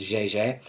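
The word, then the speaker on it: Jaeger: than that um so a French mathematician named JJ looks like Jer but pronounced JJ solved that figured out that this number is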